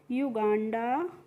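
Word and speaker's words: Uganda: युगांडा यू एन आई वी ई आर एस आई टी वाई।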